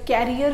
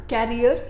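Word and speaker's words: career: लेकिन ये जो वर्ड है ना कैरियर, ये गलत प्रोनाउंसिएशन है। वर्ड होता है CARER, जिसका करेक्ट प्रोनाउंसिएशन है करियर, कैरियर नहीं करियर।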